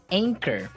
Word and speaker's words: anchor: Anchor. Another boat word here. Yeah. Anchor. Anchor. Anchor. Now, it's spelled Anchor. Right. But you don't pronounce the CH as you normally would, right?